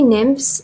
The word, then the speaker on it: nymphs: Sea nymphs nymphs اللي هي mythological creatures اللي هي كائنات من الميثs من الأساطير وهي عبارة عن نساء أوكي نساء يعيشون في البحر نسميها nymphs sea nymphs. هاي PH تلفظ F وممكن أن نتخيلها على